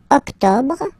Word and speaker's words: octobre: Don't insist on the final E. Octobre, octobre, octobre.